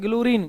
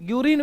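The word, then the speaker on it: Guérin: Bacillus कॉलमेट, कैलेमेटी बोलते हैं, ग्लूरिन, ग्यूरिन वैसे इसको बोलते हैं, ग्लूरिन नहीं है, ग्यूरिन है।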